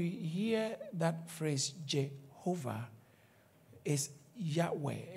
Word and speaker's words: Yahweh: you when you hear that phrase Jehovah is Yahweh it's a German Theologian who translated it as